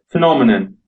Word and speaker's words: phenomenon: Well, the Brits would probably say phenomenon. It’s a slightly different vowel sound in the second syllable.